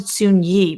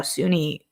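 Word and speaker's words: Soon-Yi: um his uh sunni you guys all said soon ye but i'm telling you they pronounce it on them in the show sunni every time so his relationship with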